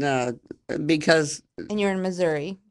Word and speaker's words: Missouri: true Missouri that's true I do say Missouri and one of my best friends people make fun of me but that's true that's how the locals say it y I love it